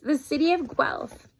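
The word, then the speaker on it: Guelph: the book here it says the city of gal it's a real place and it is pronounced gal I attended the University of gu back in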